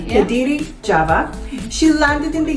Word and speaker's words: Kediri: And was born in Kediri, am I pronouncing it right? Yeah. Kediri, Java.